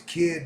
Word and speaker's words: KYD: KY, no, his name's Kid, but it's spelled KYD.